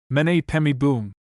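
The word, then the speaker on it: Om Mani Padme Hum: It is probably a mixture of Tibetan and Lepcha, both as much corrupted as the celebrated Om Mani Padme Boom, which is universally pronounced by Lepchas. Mene Pemi Boom.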